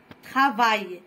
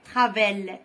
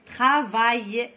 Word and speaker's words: travail: تبعا للقراءة الصحيحة للكلمات، هناك كلمات تنتهي بالآي أو الآي أو الإي، كوم travail، الآي إل نطقوها آي، travail منقولوش travel، travail.